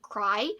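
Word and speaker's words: Crye: lots of people have read it somehow i have not another suggestion joyride by steven cry i think you pronounce it like that it's c-r-y-e this is such a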